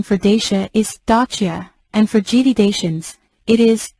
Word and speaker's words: Dacia: and gdations in the video the original correct pronunciation for Dacia is stachia and frigidations it is gedodachians we made this